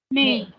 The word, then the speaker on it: mais: Mais. Mais. Yes, this is me. Because this A and I is a combination of two vowels pronounced a certain way. It is called A.